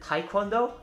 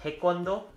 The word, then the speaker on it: taekwondo: some people pronounce it taekwondo but it's actually more like taekwondo and again it's but it's actually more pronounced like like g instead of k taekwondo is a korean